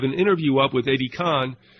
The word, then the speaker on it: Kahn: Also, I have an interview up with Eddie Kahn. He pronounces it Kane. It's K-A-H-N.